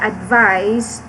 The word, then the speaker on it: advise: information to someone so the letter s here is yeah pronounced as z so it has a